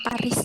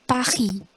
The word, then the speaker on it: Paris: Jadi itu kalau baca Paris itu bukan Paris gitu, enggak, tapi Paris. S-nya tuh biasanya enggak kebaca.